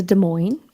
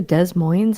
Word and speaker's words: Des Moines: going to go to Des Moines. And I was like, don't ever say the S again. Don't ever say the S again. I'm like, the S is silent.